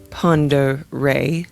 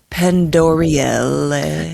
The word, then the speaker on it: Pend Oreille: And I think I said that right. Lake Pere. Uh, yes, I did look up how to pronounce it. And And I'm glad I did cuz otherwise I was going to be like Lake Pandorael. So that's what I was going to call it.